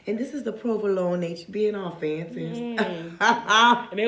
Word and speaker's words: provolone: I'm gonna try this wine with some provolone. Provolone. That's how you say it.